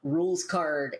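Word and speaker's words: Rouxls Kaard: there's a guy named rules card and i should explain this name is spelled r-o-u-x-l-s k-a-a-r-d so it does not look like it sounds but that's because it's like french as well as we'll find out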